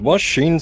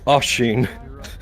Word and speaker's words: Asheen: Is Washeen supposed to be me or Yes. Am I pronouncing that wrong? Uh, yes. Asheen.